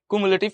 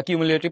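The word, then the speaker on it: cumulative: মানে কুমুলেটিভ frequency. ওকে বা কিমুলেটিভ তুমি যেটাই বল একচুয়াল উচ্চারণ হচ্ছে কুমুলেটিভ ফ্রিকোয়েন্সি।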